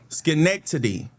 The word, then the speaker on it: Schenectady: Okay, it's spelled Schenectady. Schenectady.